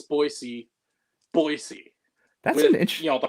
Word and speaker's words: Boise: Even Brazilians that speak Portuguese, they pronounce S with a Z sometimes in Portuguese. When they come here to because there's a big population here, they pronounce Boise.